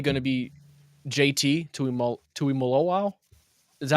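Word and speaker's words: Tuimoloau: But my favorite pick, it's probably going to be JT to Tui Malo. Is that how you say it? Was I close? Tui Malo. Yeah, Tui Malao.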